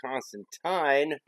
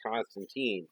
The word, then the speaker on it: Constantine: John Constantine, which was, I believe, originally pronounced Constantine, but everybody nowadays just says Constantine, so whatever.